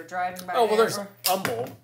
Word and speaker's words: Humble: Oh, well, there's Humble. Right? Yeah. That's, a lot of people pronounce the H and it's not supposed to be.